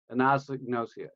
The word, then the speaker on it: anosognosia: never pronounce a damn word if you can pronounce it it should be an indicator than yeah nausea and it's anosognosia agnostic nausea yeah you kind of drove it